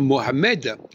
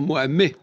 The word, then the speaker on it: Mohamed: on rajoute un e on doit pas dire Mohammed on doit dire Mohamed même s'il y a un D le D ne se prononce pas même mon nom on